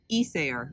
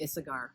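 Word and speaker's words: Isager: us with the pronunciation so it's eser where the E is is the beginning is accent and I've been saying a cigar so you're right he's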